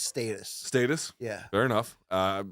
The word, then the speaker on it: Status: I think it's in in UK talk in brit speak it's pronounced status status yeah fair enough